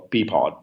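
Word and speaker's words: PEAPOD: So we have this, a configuration that we call P-pod. And the configuration essentially is P-pod, which is spelled P-E-A-P-O-D.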